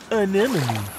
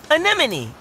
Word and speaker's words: anemone: can that animal's name is fun to say an enemy anemone anemone hey I got it great pronunciation Dean whoa their bodies are smooth what